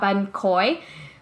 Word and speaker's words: bánh khối: that I always mispronounce, because people hear me and they're like, oh, you mean bánh khot? And I'm like, no, not bánh khot from Vung Tau. I'm talking about bánh khối, which is like a